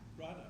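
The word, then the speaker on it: Radha: Rada, but it sound like you were saying Rya.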